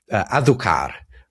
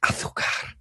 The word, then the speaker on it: azúcar: You mentioned that the Spanish for sugar is azúcar, azúcar. I don't know how you say it in the Americas, but it's azúcar in um you're probably more right than me.